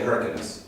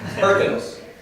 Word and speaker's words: Hyrcanus: I will spell it, and I will say it different than Mike does. And anytime you hear anyone talk about them, they will pronounce it different. I say Hyrcanus, or what do I say? Hyrcanus. That's what I learned. Mike will call them Hyrcanus. It depends on where you're from in the world, I suppose.